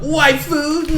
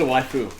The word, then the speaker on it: waifu: I'm gonna ask, what's a waifu? Waifu, that's Japanese / anime slang for wife. For wifey. Oh, wifey. Okay. It's actually in the name, waifu, but spelled with AI.